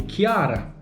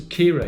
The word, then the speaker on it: Ciara: so many other videos, the way it's spelled, C-I-A-R-A, my background would be Chiara. Yeah, if it was Kira, it'd be a double E or something else in there.